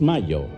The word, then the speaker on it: Mallo: Y Laboratorios Mayo se escribe como gallo. LLO Laboratorios Mayo.